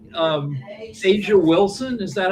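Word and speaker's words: A'ja Wilson: Like um Asia Wilson, is that how you say her name? Yeah. So Asia Wilson, I mean even when she's asked about, you know, particular things.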